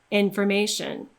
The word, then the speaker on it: information: Imagine that you're striking through that O when it's in an unstressed syllable.